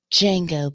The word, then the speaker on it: Django: You might know me as Django, but the D is silent.